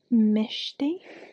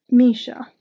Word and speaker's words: Misha: The third one is about Mishti. No, I know how to say her name. Misha. The third one's about Misha.